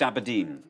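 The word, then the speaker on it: abrdn: But still pronounced Aberdeen.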